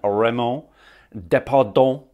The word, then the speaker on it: Raymond Depardon: So that is my French pronunciation of his name. I will try it again, Raymond Depardon.